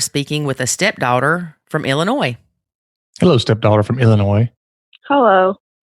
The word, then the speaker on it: Illinois: Well, I had to work really hard to say Illinois, not Illinois. Oh, Lord. It happens to everybody. It's Illinois, though, isn't it? Illinois. Yeah, the S is silent. Like the L in salmon.